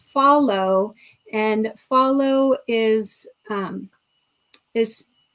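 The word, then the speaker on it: Fahlo: a video before about um a company called Follow and Follow is um is spelled F A H L O and they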